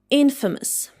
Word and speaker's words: infamous: And it should be pronounced like infamous.